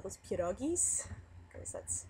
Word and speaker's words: pierogies: food with the filling inside that people call perogies i call those pierogies because that's how they're supposed to be pronounced um but yeah remind me to tell